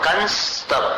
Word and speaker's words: कंस्तव: नाशमुपयाति भयं वियेव यस्ताव कंस्तव कंस जैसा उच्चारण करना यस्ताव कंस्तव मिमम यहाँ